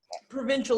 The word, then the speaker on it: Provencal: Provencal is how you spell it. Provincial is how you say it, but if you say it first, you'll spell it wrong. Okay, so you do say it like provincial. You say it like provincial, but it's spelled Provencal.